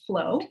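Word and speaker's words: Floe: My plan for today is to show you a clip of, or two clips actually, of Flow, and that's spelled F-L-O-E.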